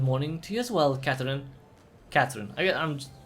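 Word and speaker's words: Katorin: But it's like, oh, it's spelled K-A-T-O-R-I-N. And, it's pronounced Catherine.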